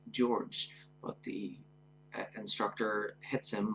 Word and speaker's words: George: up uh George 052 pronouncing his name as horge uh George tries to tell the instructor that his name is pronounced George but the instructor hits